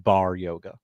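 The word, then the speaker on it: barre yoga: It is pronounced bar yoga. Bar.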